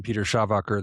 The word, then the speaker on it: Schawacker: I'm Peter Schawacker. That is how you pronounce it.